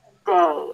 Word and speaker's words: birthday: And then stick the tongue out again for another TH. Birth. And then pull it in slightly for a D. Birth. Hold the air abruptly. Birthday. Open it to the A as in day.